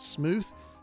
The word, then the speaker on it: Smoot: may be purchased at smooth theater that's spelled with a re dot com smooth it's s-m-o-o-t-h no it's smoot not smooth it's smoot s-m-o-o-t smoot theater i don't